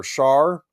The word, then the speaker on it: Char: Mobile Suit Gundam GX takes place in an alternate timeline where Char I think it's Shaw. That's the actual pronunciation.